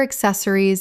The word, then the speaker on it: accessories: Word 281, accessories, common mispronunciation, accessories, correct pronunciation, accessories, four syllables with the stress on the second. Example, she keeps all her accessories in a single drawer